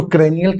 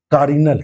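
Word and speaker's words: carinal: Mentally तैयार हो कि जो सॉरी कारिनल है कनियल हम कैनाल पूछ रहे थे। गलत शब्द मैं उच्चारण कर रहा था।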